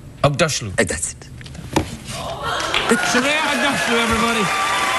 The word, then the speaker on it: Aghdashloo: You're familiar with Ugg boots? Ugg boots, yes. Say Aghdashloo. Aghdashloo.